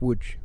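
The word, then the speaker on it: Łódź: team is is from the town of woods which is looks like an L to us but now with a line through it Odie's ed has there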